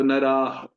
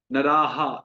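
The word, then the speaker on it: नरः: तो नराह, नराहा, ऐसे नहीं, नराहा, ऐसे नहीं, नराह।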